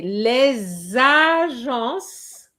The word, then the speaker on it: les agences: And remember, le l e s the liaison is compulsory. Okay? So you have to say les agences and not le agences de voyage.